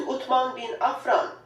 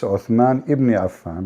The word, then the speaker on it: Uthman ibn Affan: As you can see, title states Al-Musaf Al-Sharif, attribute to Uthman bin Affan, the copy of Al-Masad Al-Husseini in Cairo. So Yeah. Cairo You know, she said the name wrong. It's Uthman ibn Affan, but it's okay.